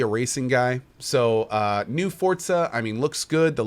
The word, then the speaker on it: Forza: It's I think it's Forza, right? You kind of say for and then put like almost a little T sound in front of the ZA, Forza.